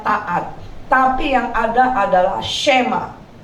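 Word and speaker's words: שמע: tapi yang ada adalah shema. Orang sering bilang shema, tapi sma sebenarnya bacanya, ya.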